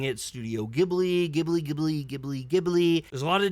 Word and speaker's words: Ghibli: I think some of my family actually thinks this one's kind of up there in the, favorite Ghibli movies of all time.